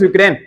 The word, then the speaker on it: यूक्रेन: यूक्रेन, Ukraine लिखा, वैसे यूक्रेन होता है, इसे यू आता है इसमें, अपन इसको उच्चारण में यूक्रेन बोलते हैं, किताब में उक्रेन लिख रखा है।